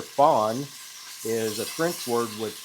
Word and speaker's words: fond: Remember, fond, it's pronounced like baby deer. Fawn is a French word